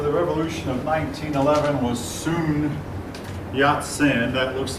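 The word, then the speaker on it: Sun Yat-sen: man responsible for the revolution of 1911 was soon yacht sin that looks like sun but the Chinese pronounces said and um he was the son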